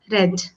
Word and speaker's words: read: absolutely correct I have read see the spelling wise all the three forms of verbs are same right but the pronunciation changes only the V1 we